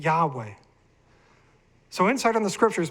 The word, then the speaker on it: Yahweh: And all these references, by the way, state that the name is either or likely or is pronounced as Yahweh.